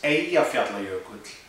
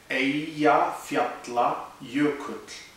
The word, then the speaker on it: Eyjafjallajökull: Now, it sounds like a mouthful, but it's actually three words, and you can break it down into Eyja, which is island, Fjalla, which is mountain, and Jökull, which is glacier.